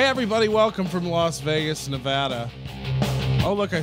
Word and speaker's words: Nevada: hey everybody welcome from Las Vegas Nevada oh look I said it right for once